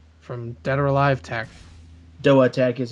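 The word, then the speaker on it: DOATEC: Doa Tech is how they pronounce it. Doa Tech.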